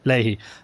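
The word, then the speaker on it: Leahy: prepare for an interview with Connor do you pronounce it Ley uh Ley Ley and I I say and I put in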